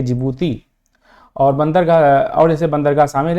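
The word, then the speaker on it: Djibouti: ठीक है, डी वाला ये इसमें डी साइलेंट है, इसको जिबूती बोलते हैं, इथियोपिया, एरिट्रिया और ये सोमालिया।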